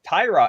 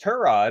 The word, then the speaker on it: Tyrod: quarterback news here uh Tyrod everyone's been saying Tyrod Taylor but I'm pretty sure it's pronounced trod as he has mentioned previous times in the past so trod Taylor and